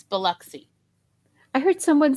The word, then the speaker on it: Biloxi: yeah waxahachie texas uh or biloxi when they say biloxi no there's no biloxi it's biloxi i heard someone say